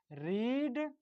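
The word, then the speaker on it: read: पर लिखना हूं दोस्तों रीड रेड रेड दोस्तों आपको ध्यान देना है स्पेलिंग बिल्कुल से रहेगा रीड का पढ़ने का स्पेलिंग लेकिन इसको पढ़ने हैं दोस्तों रीड रेड और रेड ठीक है तो चूंकि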